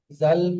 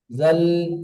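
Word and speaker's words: ذال: অনেক ভাই পড়েন দাল, জাল, এমনটি উচ্চারণ আপনারা করবেন না, এটা ভুল উচ্চারণ। উচ্চারণটি হবে দাল, জাল। জি, জাল। টান দিতে হবে। দেখুন এই অক্ষর নিচে তিন আছে, তিন আলিফ পরিমাণ টান দিতে হবে।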